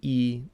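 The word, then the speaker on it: 一: So we're going to start off with E or E. Really the number is pronounced E, but it depends on what comes after it.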